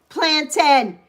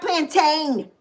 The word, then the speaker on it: plantain: That's how it's spelled, but that's not how it's pronounced.